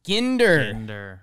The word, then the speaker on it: Ginder: Ginder. Hard G.